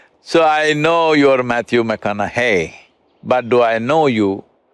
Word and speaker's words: McConaughey: try the second name mcconnell hey rhymes with what would madonna say so so i know you're matthew mcconaughey but do i know